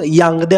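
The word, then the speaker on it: Yaoundé: कोणत्या मुद्द्याशी संबंधित आहे आता हे स्पेलिंग थोडं वेगळं दिसतंय बट याचा प्रोनाऊन्स यांगदे असा होतो हे यांगदे हे कॅमरॉन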